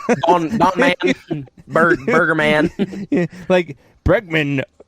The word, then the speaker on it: Bregman: It's Lance Bregman, not Bergman. There's a Bergman Don Man, Burger Man. Yeah, Bregman pronounced backwards is Namgreb.